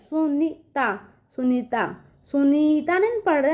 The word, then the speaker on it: सुनीता: सुनीता नहीं पढ़ते हैं, सुनीता पढ़ते हैं ना। न पे बड़ी की मात्रा है लेकिन उसका उच्चारण बच्चों छोटे ई का निकल के आ रहा है, ठीक है, सुनीता।